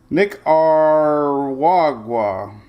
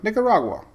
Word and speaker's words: Nicaragua: I do now I've always liked spaghetti models Nick r wagwa all right we got a nick nick there you go Nicaragua Nicaragua everybody say it together Shelley of course